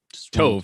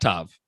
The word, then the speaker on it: Tov: So Tov, not Tav. Correct. If it's spelled T-O-V, it's gonna be, I thought you were saying T-A-V, but that wouldn't make sense.